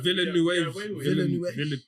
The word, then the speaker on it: Villeneuve: I find it difficult to pronounce the second name for some Dennis, reason. Dennis. Villeneuve. It's Villeneuve.